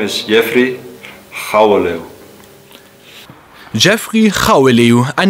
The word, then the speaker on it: Jeffrey Gouweleeuw: Aber wie wird der denn nun korrekt ausgesprochen? Ja, mein Name ist Jeffrey Chaweliu.